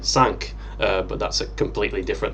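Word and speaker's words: Cinque: kind of funny that her name is pronounced sync in fact even if you look at the japanese it's and it's written like shinku whereas in french it would actually be sank but that's a completely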